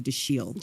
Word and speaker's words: Dashiell: Hellman in that interview says that the correct pronunciation is actually the shield The Shield we've always heard daschal I mean I know Roger Ebert or anybody